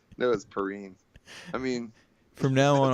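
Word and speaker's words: Perine: named really peer-on-peer aynd they kept calling and Pierre I'm like why would you pronounce it that way even if it was my name I'd be like no dude as Perrine it's pretty you know like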